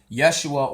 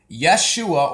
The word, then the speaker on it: Yeshua: are those times so this is uh yahusha Yeshua or Jesus and I'm gonna go also into